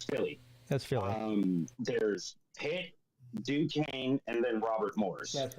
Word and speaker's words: Duquesne: But outside of Notre Dame, you got Duquesne, I think is the way you pronounce that.